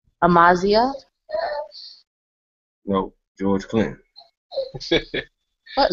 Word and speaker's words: Amaziah: Amaziah? No, George Clinton. What in the world? Talking to you. I was the first one talking to you. Wait, how you say your name? Amaziah.